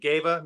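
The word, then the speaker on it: GEWA: Like, because there's different places, and you've got I don't know how you say it, Gava music in Right, Gava, that's correct.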